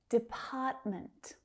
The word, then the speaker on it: department: Department, department. That second syllable is stressed again.